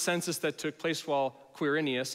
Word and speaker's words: Quirinius: that took place while quirinius and many of you are like ah that's how you say that name i don't know if it is just kidding i looked on google and i pronounced it correctly i believe was governor